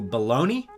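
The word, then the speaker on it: Bologna: next up we've got ornatovich coming back from china and now he's going to baloney i believe is how you pronounce it balogna is how it's spelled anyways he's probably going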